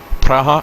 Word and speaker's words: Praha: we are and uh Prague praha as the locals say uh very nice